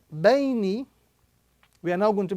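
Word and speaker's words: بَيْنِ: The second word, ba, ya, sukun fatha bay, noon kasrani, bayni.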